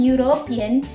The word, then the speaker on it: European: Jadi dipronounce an European ya, pronounce European, bukan pakai karena huruf di sini, meskipun di sini huruf tetapi kita pronounce, kita mengucapkan itu bukan huruf nya tapi seperti y ya.